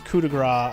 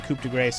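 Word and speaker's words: coup de grâce: And yes, I am mispronouncing it on purpose. It's cudigra. I know. I just like saying couprace because it's there in your face.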